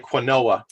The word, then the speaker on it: quinoa: Right before Jesse said quinoa, I pulled it up. It looks like quinoa. It's actually pronounced quinoa, like Jesse knows.